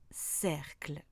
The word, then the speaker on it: cercle: Quand ER est à l'intérieur d'un mot, il va se prononcer est, comme dans cercle.